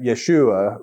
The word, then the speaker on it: Yeshua: That's a Greek kind of pronunciation of his Hebrew name, right? Yeshua, right, is what we are.